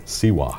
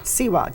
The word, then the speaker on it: Siwa: Siwa. Siwa.